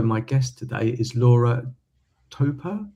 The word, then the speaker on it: Topor: So, my guest today is Laura Topor. Topor? I haven't Yeah, actually yeah, pronounced it yet.